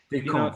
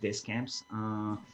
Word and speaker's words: Descamps: If you want to be correct, it's more like Descamps, but Decamp, French. in America, everybody goes like Descamps. So, because they pronounce the S and the S, the two S's are silent in French, but yeah, Descamps is fine.